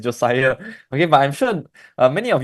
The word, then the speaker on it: Josiah: Not Josia. It's Josiah.